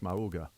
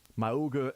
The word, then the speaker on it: Mauga: You say his name like a cartoon. Mauga. Yeah. I thought it was Mauga. Yeah, I kind of always you add a syllable that makes it I like sounds adding like syllables.